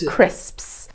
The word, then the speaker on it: crisps: you that one uh crisps is a notoriously difficult word for Learners of English crisps you'll find a lot of people mispronouncing this Scripts so here is the